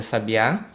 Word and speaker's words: sabiá: caso nós temos aqui a sílaba tônica é a última no caso do sabiá em sabia a sílaba